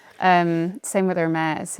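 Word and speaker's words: Hermès: Um, same with Hermes, you know, not her meats.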